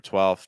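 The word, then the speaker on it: twelve: big tip again was the dark l sound for 12 just keeping the tip of your tongue down and maybe opening your mouth a little wider I'll I'll see if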